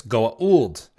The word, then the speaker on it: Goa'uld: So If you're correct about it, it's Goa'uld.